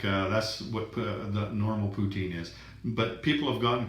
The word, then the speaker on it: poutine: in Canada that's called poutine and there's that so that's what how the English people pronounce it anyway I think the French is like poutine or something like that but what what it is